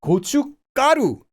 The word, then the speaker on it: 고춧가루: 고춧가루. Again, it's not written that way, but it's pronounced that way.